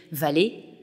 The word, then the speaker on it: vale: Le nom du maître d'hôtel, Veil, est identique au mot latin « V-A-L-E », prononcé « valet », homophone donc de « valet ».